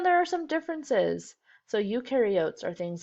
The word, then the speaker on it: eukaryotes: Remember that in the video they said pro rhymes with no, which means prokaryotes have no nucleus. Eu rhymes with do, so eukaryotes do have a nucleus.